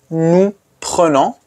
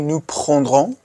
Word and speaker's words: prenons: Prenons. Nous prenons. Don't say nous prendrons. That's wrong. Nous prenons.